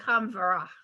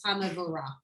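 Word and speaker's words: הַמְבֹרָךְ: When I hear it in synagogue, it sounds like Hamvara. Yes, Okay. because we don't We don't really say pronounce- the M. Yeah, Hamavorach. Because we're singing it and we're smushing it all together, but technically it's Hamavorach.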